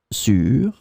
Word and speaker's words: sur: In this lesson, we will see together 3 words that are written differently but pronounced the same way. Sur, sur, sur.